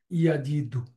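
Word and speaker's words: يجد: এটা ড্রপ হয়ে যায়, দুর্বল ওয়াও বাদ যাবে কিন্তু ইয়া বাদ যায় না, এই জন্য তার উচ্চারণটা হয় ইয়াজিদু।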